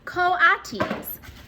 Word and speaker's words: coatis: pigs or raccoony dogs these are cotys mrs. Brisbane said reading from the letter pronounced coatis the coatis looked weird